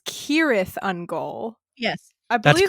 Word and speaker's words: Cirith Ungol: The C's at the beginning of words in Elvish are pronounced like K's.